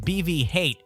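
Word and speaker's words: BB-9E: Last Jedi it was nicknamed BV hate pronounced as hate meaning hatred this reflects its character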